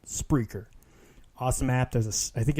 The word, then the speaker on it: Spreaker: It's spelt like speaker, but with an R. Yes, it is actually spelled like that. Spreaker. It's not a speech impediment. It's called Spreaker.